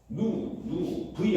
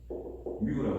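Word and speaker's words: μ: v 아니에요. 얘는 얘는 뭐라고 하냐면 뮤라고 해요.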